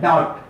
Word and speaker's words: doubt: DOUBT तो डाउट नहीं पढ़ते हैं, डाउट नहीं पढ़ते हैं, डाउट पढ़ते हैं, डाउट डाउट डाउट डाउट। DOUBT नहीं बोलते हैं कि DOUBT, डॉप्ड, डॉप्ड, बी का उच्चारण नहीं होता है।